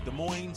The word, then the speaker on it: Des Moines: what something silent right I think the S is silent yeah good morning okay Des Moines Moines like you're noise 15:01 Grand Avenue des